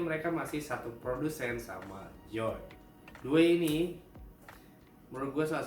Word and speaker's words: Djoy: Kalau kalian enggak tahu Joy, The Joy, Joy atau The Joy gua enggak tahu bacanya. Tapi kalau gua bacanya Joy jadi D-nya enggak dibaca.